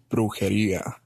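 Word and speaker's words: brujería: It's the emphasis on the syllables you're not getting. You tried, Dave. I can't do it, but And you got to roll that first R. yeah, if you hear it, Brujeria. the second syllable's got the emphasis, and it comes down and up again.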